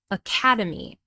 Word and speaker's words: academy: This word has 4 syllables, a-ca-de-me. And we know this because there are 4 vowel sounds. And the second syllable is stressed, academy.